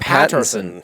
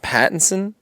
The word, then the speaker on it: Pattinson: name peterson robert robert patterson robert pattinson patterson is it pat or it is pattinson pattinson i've been saying it wrong this whole time robert pattinson future batman